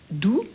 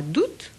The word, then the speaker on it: août: On peut faire entendre le A initial et on peut faire entendre le T final. Donc le mois d'août, le mois d'août ou le mois d'août.